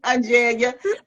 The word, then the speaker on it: Angelia: It looks like there's an R in there. Is it pronounced? It is, but you don't pronounce it. Okay. You know, that's what's been throwing me off, Taz. Because I was trying to think, I heard her say her name. I thought, where's the R? We don't say it.